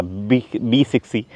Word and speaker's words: BE 6e: BE 6e, Or Be Sexy! Because that's how it's pronounced It's small And it has length of